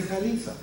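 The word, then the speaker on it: خليفة: When Allah created you to be the Khalifa, bring the best of your genetic inheritance all the way from Adam. Kha, lam, kha, la, fa, right? Khalifa. Bring it from the back.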